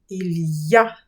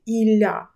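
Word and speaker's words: il y a: В цій конструкції треба добре вимовляти y, який вимовляється як й ілья. Якщо ви будете погано вимовляти й, у вас буде виходити іля.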